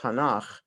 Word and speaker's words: Tanakh: put together as a so-called word that is pronounced tanakh but it it's an abbreviation for three words